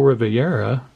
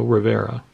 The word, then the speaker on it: Rivera: tahana there and Emmanuel Riviera no Rivera just Rivera card wolf don't add the extra syllable buddy it's just Rivera rookie card of Emmanuel